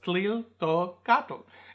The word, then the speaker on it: Tliltocatl: So if you combine those, tliltocatl, it's not that difficult to pronounce. So, like I said, you've even said chipotle, and that's got that TL sound in it, so it's not that difficult.